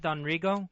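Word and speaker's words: Don Rigo: Am I pronouncing that right? Donrio.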